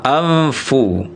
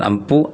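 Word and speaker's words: أَنفُسَكُم: Ada lagi anfusakum anfu bukan bukan anfu tapi anfu jadi bunyi nun sukunnya sudah mengarah ke huruf fa amfu bukan ampufu anfusakum.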